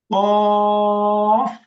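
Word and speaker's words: ق: কাকের মত মোটা আওয়াজে কফ কাফ কাফ কফ কফ কফ কফ কফ কফ কফ কফ কফ কফ কফ কাফ কেউ যদি এখানে কাফ বলে উচ্চারণ সঠিক হবে না ভুল হবে ভুল হবে ভুল হবে ভুল হবে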